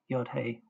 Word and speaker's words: Yah: The dot in the hay is a mapique which shows the hay as a consonant to be pronounced.